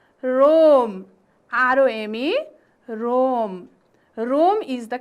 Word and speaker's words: Rome: Next word is R-O-M-E. No, it is not Romy. It's not Romy. It is Rome. R-O-M-E, Rome. Rome is the capital city of Italy. Okay, Italy is the country and Rome is the capital city of Italy.